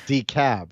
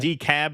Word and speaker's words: DeKalb: Yeah, DeKalb is no, it's DeKalb, right? DeKalb is how they say it, not DeKalb.